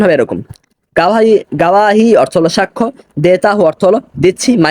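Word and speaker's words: گواہی: একটু আগে আমার ভুলটা হয়েছিল গাওয়াহি দেতাহু মাই উচ্চারণ হবে এরকম গাওয়াহি গাওয়াহি অর্থ হলো সাক্ষ্য দেতাহু অর্থ হলো দিচ্ছি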